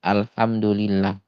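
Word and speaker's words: الحمد لله: Contohnya misalkan ha di alhamdulillah kita nyebutnya biasanya ee alhamdu itu menggunakan H tipis atau H kecil ya biasanya tertukar dengan H yang besar.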